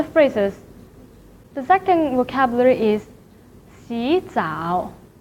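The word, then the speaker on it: 洗澡: So 洗 should be pronounced as 洗, but in this situation, the first third tone should be changed to the second tone. 洗澡.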